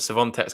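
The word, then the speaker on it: Świątek: We're getting a new pronunciation, Ben, from someone who's Polish this time. It's Swiatek. Swiatek.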